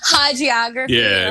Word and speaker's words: hagiography: on the pronunciation, a hagiography. What is that word? Hagiography or hagiography. All right, it's whatever. Either one. It's you're making a sense out of this person.